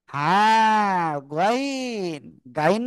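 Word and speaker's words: غين: গাইন গাইন না কিন্তু গলার শেষ ভাগ থেকে মোটা আওয়াজে তিন আলিফটা নিয়ে উচ্চারণ করব।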